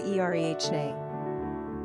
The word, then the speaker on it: Irene: Originally, the name was pronounced with 3 syllables as in Eirēnē, as in Greek, but the English eventually changed it to the 2-syllable Eirene. The Spanish pronunciation is ee-REH-neh.